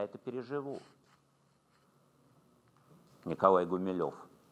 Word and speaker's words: Гумилев: фамилию в гимназии а его фамилия не гумилёв а то как ему не нравилось правильно говорить гумилев это поповское фамилия так называли на но